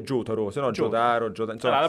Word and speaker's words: Jotaro: se lo dici in giapponese è Jotaro, se no Jotaro, Jotaro, insomma... allora, la pronuncia giusta è Jotaro, Jotaro, Jotaro, Jotaro.